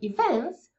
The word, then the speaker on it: event: Więc pamiętajcie, po polsku akcent akcentowana sylaba nie jest tak ważna. Po angielsku dla native speakerów jest kluczowa, żeby zrozumieć. Se sia